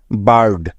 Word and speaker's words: bird: লক্ষ্য করে দেখো, এখানে আই আর শব্দের মাঝখানে আছে। তাই, বুঝতে পেরেছ? সেজন্য আই এর পরিবর্তে নিয়ে নিব আকার। তাহলে BI মিলে হবে বা। তারপরে আর আছে যার জন্য নিয়ে নিব র এবং শেষে আছে ডি, তাই নিয়ে নিলাম ড। সুতরাং BIRD একত্রে মিলে হয়ে যাবে বার্ড, যাকে আমরা বাংলায় এভাবে লিখে থাকি, ঠিক আছে?